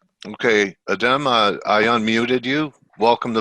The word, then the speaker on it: Adem: And Uh, it's just Adam, so don't worry. oh, Just is spell Adam? it. Yeah, it's Okay, Turkish. okay. So you Americanized it. How they say it in Turkey? It's Adem.